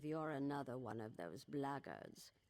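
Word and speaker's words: Blackguard: If you're another one of those blackards, and that's the way to pronounce it, not black guards like that thug insisted it was, then my answer is the same.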